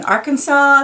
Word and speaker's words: Arkansas: Isle of new Arkansas and here's a silent s in Arkansas at the end and assignment s in